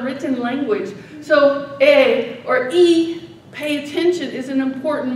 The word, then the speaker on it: I: The I is actually pronounced as an E, and it's a marker.